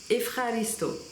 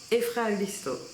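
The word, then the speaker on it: ευχαριστώ: donc il vaut mieux le connaître celui-ci, c'est Efraristo. Efraristo. Et si vous voulez dire merci beaucoup, attention, préparez-vous, je vais essayer de vous le faire doucement. Efraristo para poli.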